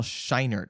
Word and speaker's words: Scheinert: is daniel kwan and daniel scheinert i think is how you pronounce his last name they got their